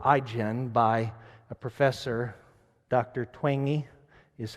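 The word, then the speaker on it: Twenge: seen this book igen by a professor dr twangy is how it's pronounced she's written this book called igen have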